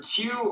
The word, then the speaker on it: Tew: And it's Tew, rhymes with few.